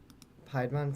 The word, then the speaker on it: Piedmon: jam hang on okay piedmont from digimon right is that how they spell it no p-i-e-d it's like pie pie nope like pie yep and then yep or